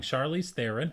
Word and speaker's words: Charlize Theron: long shot is the political romantic comedy starring Charlize Theron that is pronounced right did my research today thank you